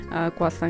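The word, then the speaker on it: croissant: तो ये मैं क्वासा लेके आई थी। वैसे तो इसको क्रोसेंट कहते हैं शायद लिखने में, लेकिन शायद प्रोनाउंस जो है ना वो थोड़ा सा डिफरेंट करते हैं। क्वासा कहते हैं इसको।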